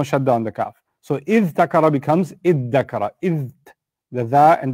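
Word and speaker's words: ادَّكَرَ: The ta and the dhal from pronunciation, ta and dha are from the same part of the tongue. Your tongue moves to the front of the mouth when you pronounce them. And what happens is there's a fusion. It's called idgham in Arabic. So tadakara becomes iddakara or iddakara.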